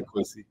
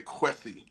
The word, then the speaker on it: Kwesi: you're sweating in your chair, we just say quy. Yeah. Ran, did I do okay with the pronunciation? Yeah. No, you're great. I just hate to hear people say qui.